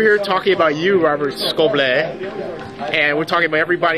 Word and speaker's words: Scoble: Scoble. It's pronounced Scoble. Scoble? This is a secret. He's French. He's French.